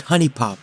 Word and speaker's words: Huniepop: honey popper huniepop because it's very clearly spelled huniepop but everyone I know pronounces it honey pop okay forget it it's